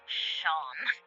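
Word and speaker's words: Seam: The names seem pronounced sham.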